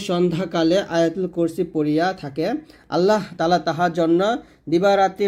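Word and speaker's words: اللّٰهُ: রাজীম বিসমিল্লাহির রাহমানির রাহিম আল্লাহু দেখুন আমরা এখানে প্রথম ভোল্টে করি আল্লাহু বলি এটা আল্লাহ বলবেন না যদি বাংলা আল্লাহ লেখা আছে তবে আরবি উচ্চারণ করতে হবে আল্লাহু এ হা পেশু এখানে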